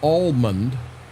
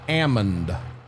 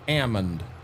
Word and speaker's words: almond: It's not an almond. The L is silent. It is an ammon. I had never heard that before in my life. And they said the correct name is an ammon.